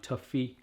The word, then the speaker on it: Toffifee: I am pronouncing that right, aren't I? Toffifee.